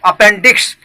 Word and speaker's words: appendix: तो inflammation of द अपेंडिक्स, correct pronunciation is अपेंडिक्स।